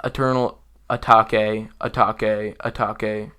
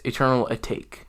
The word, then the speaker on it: Eternal Atake: Remember, when you pronounce this album's name, it looks like Eternal Atake. It's Eternal Atake, okay?